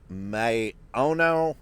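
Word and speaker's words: Maono: microphone here that I have this is a m Ono I believe is how you pronounce it m a o n o and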